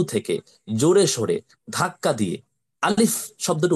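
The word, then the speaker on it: ألف: করছেন নোট করে ফেলেন আলিফ অক্ষরটি বা হরফটি কণ্ঠনালীর শুরু থেকে বা গলার শুরু থেকে জোরে সোরে ধাক্কা দিয়ে দ্রুততার সহিত ধমকের সুরে উচ্চারণ করতে হয় যেমন আলিফ আলিফ আলিফ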